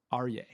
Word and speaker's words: Aryay: lion, and I'd like to welcome today's guest, Aryay. Did I pronounce that right?